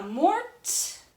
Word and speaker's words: morte: add an E, because this E is going to make you pronounce the T. So this would be je ne suis pas morte.